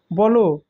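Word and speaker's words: ব'লো: করো সাবধানে কাজটা করো বল তখন বল থাকবে না যখন তার মাঝে ঊর্ধক কমাবসা হবে তখন সেটাকে বলব বলো তাকে কথাটি বলো আরো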